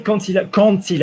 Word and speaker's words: quand il: Lovely, quand il arrivera. So when you've got Q-U-A-N-D plus vowel, yeah, you pronounce it like a Q-U-N-T. You pronounce it like the word can't.